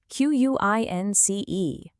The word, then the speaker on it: quince: 15 is quince, Q-U-I-N-C-E, pronounced quince.